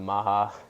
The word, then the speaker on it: MAHA: the policy perspect oh yeah he's got the Maha that's how you say it right yes Maha I interrupt you real quick I was going